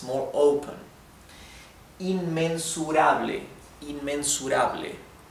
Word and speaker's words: inmensurable: Inmensurable, inmensurable. Also, notice how open the E, the Spanish E is. It's ble, not ble, that, right? It's ble, inmensurable, right?